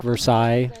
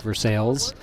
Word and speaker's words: Versailles: So the town of Versailles, Ohio, spelled like Versailles but pronounced like Versailles, runs a large chicken-themed festival, I should say.